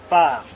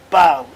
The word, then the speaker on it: parles: Je parle, tu parles, il ou elle parle, nous parlons, vous parlez, il ou elle parle. I did not pronounce the S here.